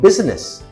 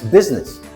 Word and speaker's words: business: It's not business. We drop the I. It's business.